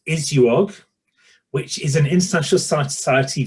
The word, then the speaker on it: ISUOG: Gabrielle is an event professional currently working for the International Society of Ultrasound in Obstetrics and Gynecology. Pronounced ISUOG, which is an international society focusing on improving women's health in that speciality.